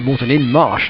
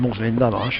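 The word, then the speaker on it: Moreton-in-Marsh: You pronounce it Morton in the Marsh. Morton in the Marsh. In the Cotswolds. In fact, Morton in Marsh rather than Morton in the Marsh.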